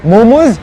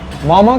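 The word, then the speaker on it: मःम: बकवास बंद कर अभी मोमोज़ सब्जी नहीं है नेपाली में मामा क्या है कि ये एक निवारी डेली बेसिस है ठीक है एंड मामा it's pronounce मामा नॉट मोमो मामा which means which means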